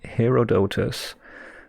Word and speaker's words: Herodotus: I'm looking for the Histories by Herodotus. Herodotus, okay. Yeah, I could pronounce it in German. I think it would just be Herodot, but, well.